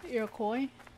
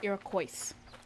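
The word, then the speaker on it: Iroquois: you want to say you just can't pronounce the S because it's like Illinois if you not if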